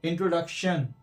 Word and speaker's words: introduction: देखिए, इंट्रोडक्शन, इसमें भी एंड में आ रहा है TION, तो यहां पर भी ये शाह और शन की तरह साउंड होगा, शन की तरह या शाह। तो इंट्रोडक्शन, शन, शन।